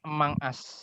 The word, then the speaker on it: Among Us: Among Us ku apa sapa Among Us? Azara. Among Us. Itu bacanya Emang As.